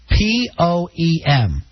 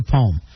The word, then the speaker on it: poem: it says p-o-e-m home see that's only using one syllable only 32 percent of the country says it that way i also say poem i'm gonna read your poem uh most people will say it two-thirds of the country will say it with two syllables a poem we're reading